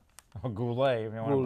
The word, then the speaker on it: Goulet: She was married to Robert Gullet, or Goulet, if you want to pronounce Goulet.